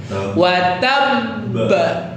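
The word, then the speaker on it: وتبّ: Jadi kalau ada huruf qalqalah bertasydid terus diwaqafkan, maka cara bacanya adalah selesaikan urusan dengan tasydidnya dulu, tahan dulu, baru keluarkan qalqalahnya. Watabba, gitu ya.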